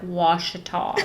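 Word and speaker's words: Ouachita: area, and they'll say, now how do you say the lake name? And he's like, Washita, the Washita Mountains, Lake Washita. But it doesn't have a W, so it's it's OU though.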